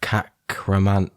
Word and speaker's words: Kakhramonov: Is it Kakhramonov? It is, yeah.